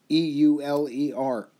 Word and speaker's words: Euler: actually was discovered by a mathematician named euler e-u-l-e-r euler is how it's pronounced so he thought highly of himself and